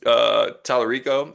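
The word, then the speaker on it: Talarico: So James Tallarico, I believe is how you say his name, running for Senate from Texas.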